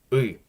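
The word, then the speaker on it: ы: It looks strange, and it's a strange sound. Uy. Uy. It's kind of hard even to say on its own because you'll never see that letter by itself.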